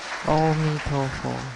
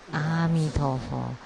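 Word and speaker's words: 阿彌陀佛: In the movies, I often see that when monks see each other, they would say, Om Tofo. Actually, so there is a mistake in this pronunciations. If you say Om Tofo, sounds like dark or black.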